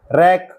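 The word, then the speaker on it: wreck: लोहा press world संसार W silent wrath क्रोध रैप लपेटना रैक तोड़ना टूटा हुआ याद रखें रिमेंबर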